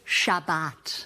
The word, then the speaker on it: Shabbat: Might as well get Shabas Kenbound. We pronounce it Shabbat.